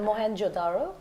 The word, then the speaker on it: Mohenjo-daro: You didn't pronounce that, no, but I'll fix it for you. That's your job. It's Mohenjo-daro.